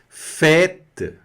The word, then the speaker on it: fête: Fête, festa. Não estou pronunciando esse último E aqui, hein? Não se esqueçam. Está só puxando a consoante que está ali do lado.